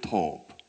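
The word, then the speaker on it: טוב: 히브리어로 한번 인사해 보겠습니다 보켈 톱 참 이렇게 써는 톱을 생각하시면 되는데 발음이 똑같아요 그런데이 톱이라고 하는 단어는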